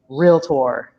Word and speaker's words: realtor: us out there and we don't even know how to pronounce the designation that we have that is so valuable it is realtor so i don't know